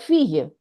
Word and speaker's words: fille: Double L is pronounced Yeah. usually I, like fille, daughter, la fille, Fear. le billet. Like in when we pronounce family, it's famille. Like the spelling is F-I-M. Exactly. Famille, fille, billet.